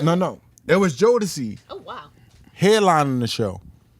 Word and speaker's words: Jodeci: It was Jodeci Oh wow.